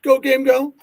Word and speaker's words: Gogamego: So do we pronounce it Go Game Go? I just say Go Game Go.